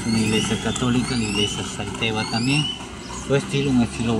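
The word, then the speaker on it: Xalteva: Ahí puedo observarle cómo se escribe con X, Salteva, y uno lo pronuncia Salteva.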